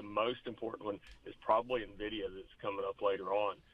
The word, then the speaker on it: NVIDIA: Could you please pronounce these stocks correctly? It's Tesla and NVIDIA.